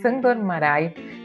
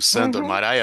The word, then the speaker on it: Sándor Márai: Quando a gente fala sobre o nome do autor como Sandor Marai, assim a gente vai falar aqui. Eu li aí pela internet, eu não sei, eh, que parece que se pronuncia em húngaro, Xandor Maroi.